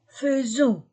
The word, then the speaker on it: faisons: verbe devient nous faisons ai je prononce ces deux lettres e seulement avec faire nous faisons nous faisons ons vous faites remarquez il